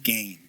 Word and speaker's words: Gane: Like, I could never read that until you told me that it was GANE. Yeah. How do you say it? Gain? Gain. Yeah.